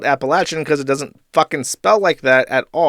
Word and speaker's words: Appalachian: Also, Appalachian should pronounce with a latch and not a leash as someone from there." Okay, fine. Appalachin.